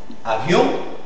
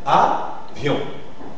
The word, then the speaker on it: avion: semiconsonne donc par exemple si je dis les mots avion ici je n'ai pas trois syllabes j'enis seulement deux syllabes avion d'accord ce n'est pas avion mais avion alors dans ces cas vous trouvez de voyelles mais les deux voyelles forment un seul groupe vocalique et dans ce cas